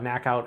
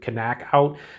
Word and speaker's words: Knack-Out: about this one now I think it is pronounced technical uh knockout as opposed to canac out because connect I like